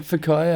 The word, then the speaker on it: Whakaio: How do you get Fakayo out of Whack? Well, it's spelled with a W. So the WH is pronounced F.